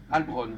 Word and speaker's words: Halbronn: Albron, voilà, Albron. vous allez sur Google. C'est écrit comment? H-A-L-B-R-O-2-N, comme ça se prononce.